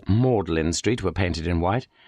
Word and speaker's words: Magdalen: Everyone, nearly everyone knows that this is pronounced Mlin, M A U D L I N, Street, as if it were a sentimental, tearful sort of street.